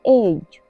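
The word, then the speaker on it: edge: आया हुआ है तो यहां पर डी साइलेंट है इसे हम पढ़ेंगे एज बी आर आई डी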